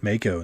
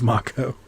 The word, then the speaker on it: Mako: invading this game also who's still pronouncing it Maiko instead of macho despite the game deciding firmly that it's pronounced macho Oh more ghosts cool